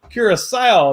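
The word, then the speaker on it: Curaçao: it's probably way wrong curacao that's right that's how you say it curacao is where andrew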